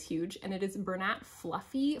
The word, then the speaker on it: Fluffee: So it is huge, and it is Bernat Fluffy, fluffy spelled with 2 E's at the end, because you know, gotta make it trademarkable.